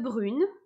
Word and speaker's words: brune: même sa bulle donc le e2 brune ne se prononcent pas puisqu'il est à la fin du verre jusque là ça va donc je prononce brune et pas brute ne est-ce que ça